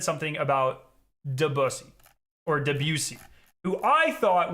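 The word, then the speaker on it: Debussy: So you can expect me to say debusy instead of the busussy because I respect Impressionism movement and it many talented composers.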